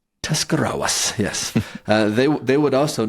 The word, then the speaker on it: Tuscarawas: German communal group that was found in nearby Tuscarawas County. Nice job. I said that right. Yeah, nice pronunciation. Tuscarawas, yes.